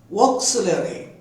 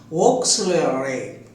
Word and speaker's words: auxiliary: Dear students, this word auxiliary, this word has 5 syllables, 5 divisions. Listen here carefully. O, sil, e, ya, e. O, sil, e, ya, e. Auxiliary.